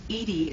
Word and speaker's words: EDI: Edie is the phonetic pronunciation of E.